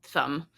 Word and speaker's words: thumb: We also silence "-mb" in other words too, though. We've got dumb and numb and thumb.